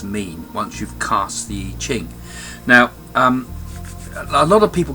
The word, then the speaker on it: I Ching: Today I'm going to give you a lesson about how to interpret the I Ching, or it's actually pronounced Yi Jing, I believe.